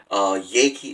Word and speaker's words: Yeakey: Yakey is spelled Yeakey.